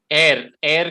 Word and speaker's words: heir: हेयर ए हेयर में एयर का जो प्रोनाउंसिएशन है वो एच साइलेंट है यहाँ पे, तो इसलिए वो